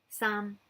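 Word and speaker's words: 三: at the top again sum some is like a high falling tone but don't worry about it just think it's high so we're going to go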